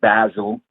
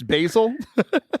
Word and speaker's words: Basil: Basil, they corrected me whenever I got there. I'm like, I got like 3 masters in this. I know how to say this in my doctorate. Yeah, so the kids corrected me. It's St. Basil. You were saying it like the spice, basil?